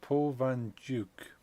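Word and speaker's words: Paul van Dyk: actually happy with that code now apparently it's Paul Van juk as a pronunciation I did not know that I always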